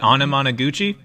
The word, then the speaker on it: Anamanaguchi: Is it anamanaguchi?